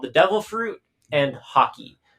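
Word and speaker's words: Haki: the devil fruit and hockey basically it's spelled ha Ki not H yeah not like not the sport um but basically the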